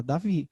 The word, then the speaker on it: David: Depois que eu fui entender que o demudo no final muda a pronúncia, né? Então, se você for pegar literalmente, meu nome é David.